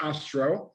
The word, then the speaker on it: Ostro: amongst other things right that is correct it's pronounced astro astra but you wouldn't be the first who